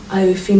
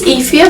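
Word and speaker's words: Aoife: But all I'd say is I've gone Iofi Mannion. I feel like that's not right. I always think it's Ifia, but I got told it was wrong. Yeah, there's different pronunciations for like different Mannion.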